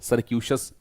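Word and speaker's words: circuitous: सी आई आर सी यू आई टी ओ यू एस सरक्यूशियस pronounce आप इस प्रकार करिएगा मतलब कोई ऐसी चीज जो बहुत ही घुमावदार है।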